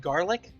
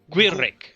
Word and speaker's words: Gwilric: is your character's name pronounced Garlic? No, it's Wilrick. Gwilric. Gulric. Gwilric. Gwilric. It's vaguely Welsh. Gwilric. I basically took two different Welsh boy names and spliced them.